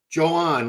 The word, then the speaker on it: Joan: Joan. So I have a woman who lives in his town in Spain. So she is promising me it's pronounced Joan, like the woman's name, but instead of Joanne, it's Joan.